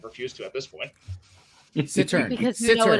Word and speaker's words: cittern: Cittern. Because you Cittern. know it annoys me. Oh, it's a Cittern. It's a Sisseton. There's like no S in the word.